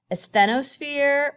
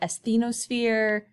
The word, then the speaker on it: asthenosphere: that special fun word asthenosphere or asthenosphere same thing different pronunciation tomato tomata that's this layer right here